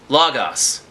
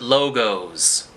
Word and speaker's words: Lagos: the bookstore on pacific the place is called lagos pronounced lagos but the people who ride those scooters call it logos the guilt would pass